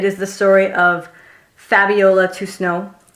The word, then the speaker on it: Toussaint: It is the story of Fabiola Toussaint, which I may be mispronouncing her last name, but I went to school with a kid who had the same last name and he said Toussaint, so I'm going to say Toussaint.